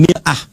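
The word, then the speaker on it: مرآة: Bahkan sering sekali orang Arab punya perumpamaan dengan mir'ah. Ya, kalimatnya sama, cuma cara bacanya beda. Al-mar'atu kal mir'ah. Yang satu pakai fathah, yang satu pakai kasrah.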